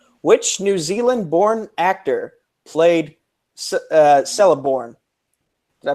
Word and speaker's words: Celeborn: Which New Zealand-born actor played Celeborn? Did I pronounce that right? Yeah. Yes. Celeborn.